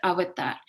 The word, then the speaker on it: avatar: actually indian and origin it's sanskrit in origin and you have to pronounce it avatar and you know of